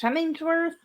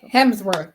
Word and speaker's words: Hemsworth: will be doing Chris hemmingsworth and um Hemsworth stop saying Hemmings it sounds like it means work to me I don't know why it's Hemsworth it's not even spelled like that okay Hemsworth and then